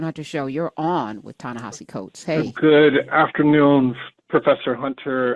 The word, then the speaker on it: Ta-Nehisi Coates: Tanahasi Coats is here and that's how you pronounce his name.